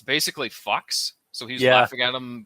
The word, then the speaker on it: Fuchs: in the credits and the way his name is spelt is f-u-c-h-s so it's basically fox so he's laughing at him calling him fred